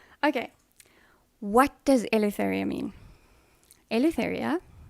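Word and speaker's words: Ελευθερία: what does elephant mean elitheria is the greek word for freedom or liberty and it's actually pronounced elephthalia however i have anglicized it for purposes of my um youtube channel and yeah that is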